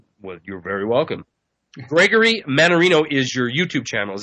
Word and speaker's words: Mannarino: And I'm trying to remember how to say his last name by saying Dan Marino, because it sounds like Dan Marino, Mannarino.